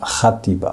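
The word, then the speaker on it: Játiva: の歯ですねその J という文字で書いて発音もハッティバーと言いますこの街の名前は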